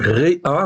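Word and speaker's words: רֵעַ: Donc Réa, en fait ici, donc vous voyez ici, sous le Resh, j'ai un tséré, et sous le Haïn, j'ai un patar. Donc ça se prononce Réa.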